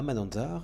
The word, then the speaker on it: Mananjary: Je me rends à Mananzar, et je vous promets que ça se prononce à peu près comme ça, sur la côte est.